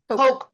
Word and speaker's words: Koch: How do you say their last name? C-O-C-H? Oh, brothers. The Koch brothers? Koch brother. Like the soda, Coke.